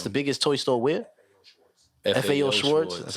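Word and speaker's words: Schwarz: you said that's the biggest toy store win schwartz that's how you say it biggest toy store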